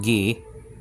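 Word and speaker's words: γῆ: And the earth, Greek word gay, nowadays pronounced gi, okay, shook.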